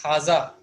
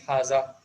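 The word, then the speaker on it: هذا: Now as you have seen, we pronounce haza, but in writing we don't use alif after ha, but it is pronounced as haza, as if there is alif, as if alif is present after haza, but it is not the case.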